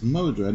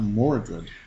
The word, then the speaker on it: Modred: It's Modred, not Mordred.